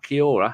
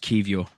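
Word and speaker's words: Kiwior: got the Polish center-back Kiora whose name I say wrong who played every game for for put Portugal no the other people it's key it's pronounced kivio Poland in the World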